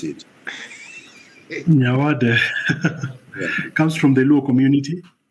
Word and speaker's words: Nyawade: How do you pronounce it? Nyawade comes from the Luo community.